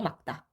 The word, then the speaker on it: 맑다: 기역으로 발음됩니다. 막다예요, 막다.